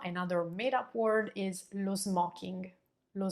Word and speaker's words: smoking: La terza parola del giorno, another made-up word, is lo smoking. Lo smoking. Notice how I'm pronouncing that O. It's not smoking, but it's opened up a bit.